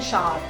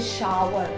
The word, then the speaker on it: shower: जाना होता है तो कईयों को सुना होगा आपने बोलते हैं शार, कुछ बोलते हैं शावर। सो the exact pronunciation is शावर।